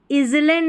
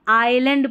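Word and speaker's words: island: यहाँ पर इजलैंड नहीं आइलैंड पढ़ते हैं, यहाँ पर जो है एस साइलेंट था, एस साइलेंट था, तो इसको इजलैंड नहीं आइलैंड पढ़ना है.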